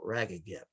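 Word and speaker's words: RAGAGEP: as ragged gap and it's pronounced just like it's spelled rag again recognize and generally accept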